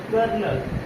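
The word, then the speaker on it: colonel: नहीं है ठीक है कर्नल कर्नल तो कर्नल में देखेंगे तो आ लगने के लिए तो आपको लग सकता है लेकिन आ नहीं होता क्या होता है एल होता है इसका मतलब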